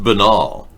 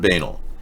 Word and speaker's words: banal: to be banal about it no that it's pronounced benol not banal and it doesn't even apply to the story